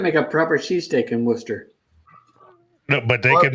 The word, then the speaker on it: Worcester: I lived in Worcester for 4 years. At least you pronounce it correctly.